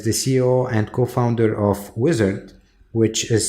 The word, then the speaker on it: Uizard: Tony belelli is the CEO and co-founder of wizard which is spelled u i z a r d it's